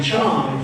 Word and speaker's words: Chong: It is no longer Chang because it's not Pachanga. It's Chong from Pachanga.